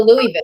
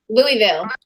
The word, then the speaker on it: Louisville: It's like, Louisville. Louisville. Even I know how to say it. It doesn't it's like Oh. Louisville. Louisville. No. If you're from the South, it's Louisville. Louisville.